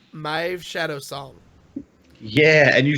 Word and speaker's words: Maeve Shadowsong: It's our first alternate rogue hero, and it's Maeve Shadowsong.